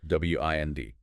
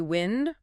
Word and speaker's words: wind: W I N D can be wind rhyming with send. That's the noun. Moving air. Or wind rhyming with find.